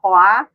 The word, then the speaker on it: Hoa: hoa so it's like you just pronounce it like uh moi in french but it's hoa that is the name